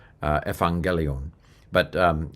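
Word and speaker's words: εὐαγγέλιον: But basically it said Yuangelion or Yangelion. That's the Arasmian pronunciation. The way this dictionary form was probably pronounced at the time of Jesus in Judeo Palestine was something like ephangelion uh ephangelion.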